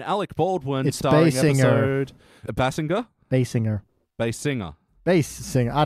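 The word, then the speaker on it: Basinger: Baldwin and Kim B bass singer I actually wrote it down it's actually pronounced as bass singer right that's how she says it herself Alto tenner Binger he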